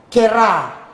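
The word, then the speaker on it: קְרָא: Ya, jadi ini dibacanya itu seperti loncat dia. Jadi karena titik 2 di bawah itu nikut sebagai ketemu sama rush yang patah. Ini patah. Ini nikut patah ya. Dia jadi bacanya seperti loncat, jadi kera, kera.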